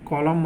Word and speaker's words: column: AUTUMN है ना, यहाँ पे देखिए क्या साइलेंट रहा, ऑटम मतलब पतझड़। COLUMN कॉलम मतलब स्तंभ, CONDEMN कंडेम मतलब निंदा करना, HYMN हिम मतलब स्रोत, है ना।